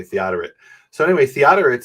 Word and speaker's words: Theodoret: And he says, no, that's Theodoret. I always called him Theodoret because I don't know how it's pronounced. At least in English, they say Theodoret.